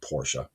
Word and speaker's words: Porsche: Porsche, and the proper way to say Porsche, I know it's going to sound funny. It's actually Porsche.